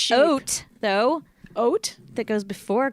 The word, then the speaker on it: haute: I can spell oat, though. Oat? That goes before couture. Coat, C-O-U-T. No. HAUTE. Haute couture. There. You say oat?